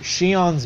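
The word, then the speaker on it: Xion: on I think is and yes xio n pronounced the same way as she own from Kingdom Hearts the he's supposed to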